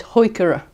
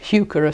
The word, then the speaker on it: heuchera: metallic looking and actually the correct pronunciation of this is heuchera but most of us use heuchera so that's probably what all say so I'm going to